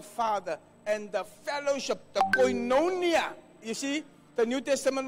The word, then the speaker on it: Koinonia: I'm ending the drawer Cuts you off from Koinonia I'm giving you a Greek word any Bibles